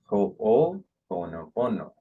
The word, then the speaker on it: Ho'oponopono: Let me tell you how to pronounce Ho'oponopono. Please repeat after me. Ho'oponopono.